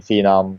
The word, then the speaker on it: Phenom: all, which is it, Phenom or Phenom? uh, okay, I need to go to the past a little bit. Okay. It was originally the American pronunciation is the correct one because The Phenom.